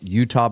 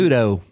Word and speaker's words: Euto: And- Udo.